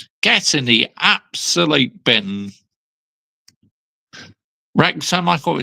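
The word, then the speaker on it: Wrexham: Rexom. I thought it's pronounced Waxom. Yes, Rexom.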